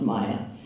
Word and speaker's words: Mia: And my name has always been of interest to me because it's spelled like Mia, but it's pronounced Maya.